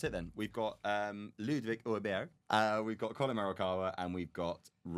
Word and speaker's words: Åberg: Ludwig Åberg. It's a great pick. Is it? Oh, it's phenomenal. Can anyone else pronounce that properly? Arberg. No, it's not, because my Swedish mother-in-law taught me how to say it.